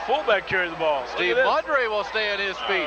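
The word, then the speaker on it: Maugeri: M-A-U-G-E-R-I, it's pronounced Maudry.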